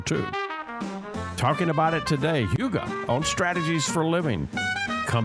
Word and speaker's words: hygge: and its importance today h y g g e it's it looks different than it sounds Yuga it's a Danish concept let's come back and